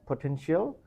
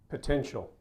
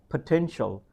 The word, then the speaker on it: potential: should be pronounced as potential potential potential stress you need to stress the second syllable potential potential do you